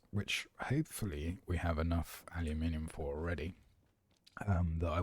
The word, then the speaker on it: aluminium: I suppose this is aluminum because that's how it's spelled as opposed to aluminium, which is how we spell it and pronounce it over here.